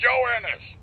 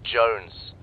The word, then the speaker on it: Jones: for the millionth time my name is pronounced Jones Jones shut up joinus seriously lots of people have the name it's very common how am I the first guy you've met called Jones joannis I need you